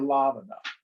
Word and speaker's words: Lavana: story by the way he said lavana or lavana short a okay up there